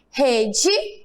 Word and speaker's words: rede: Observe que quando eu falo rede, o E tem som de quê? De I. E parede, o E também tem som de I. Eu não falo rede, parede, né?